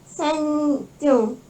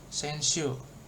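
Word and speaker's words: 先週: Senju. Senshu. Oh iya. Senshu. Jangan jadi J, kan nggak ada teng-teng ya, nggak ada. Oh iya. Iya, jangan Terima salah. kasih. Nggak ada teng-tengnya, normal aja Senshu.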